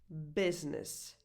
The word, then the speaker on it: business: This is the abbreviation of "business": Which is a word with an exception because the first U, the first vowel is actually pronounced as a lax [ɪ]: And the abbreviation is